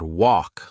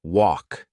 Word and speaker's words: walk: pronunciation better for example I used to say the word walk like wal my friend explained that the L in walk is silent so now I say it like walk these small Corrections made